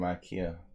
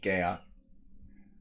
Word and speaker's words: IKEA: they probably came from Ikea but we say IKEA in America it's very weird we should say it like the Swedish saying how do they say it gaya something like that alright this is lame